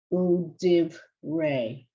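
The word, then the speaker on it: דברי: When it has it's called a shva. When you've got the shva underneath, this is one syllable and there's no sound, there's no vowel sound. So it's div ray.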